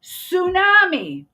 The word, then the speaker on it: tsunami: English lesson all right tsunami the t is silent honest the H is